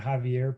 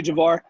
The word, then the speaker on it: Javar: So, I mean, Instagram, at Javar. Make sure it's not Javier, please. It's spelled Jav as in Victor, AIR, without the E at the end.